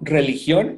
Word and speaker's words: religión: De nuevo, religión y religion se escriben igual.